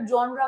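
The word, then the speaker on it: genre: जेनरे नहीं, इसका जो प्रोनाउंसिएशन है वो है जॉनर। क्या है? जॉनर। जॉनर, ये चीज इसका प्रोनाउंसिएशन है।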